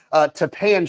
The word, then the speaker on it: Tappan: Tappan Street, pronounced like Japan, which I've found out.